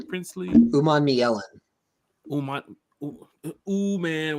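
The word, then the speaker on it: Umanmielen: Ooh man, we can say ooh man from I think he's one of Ole Miss.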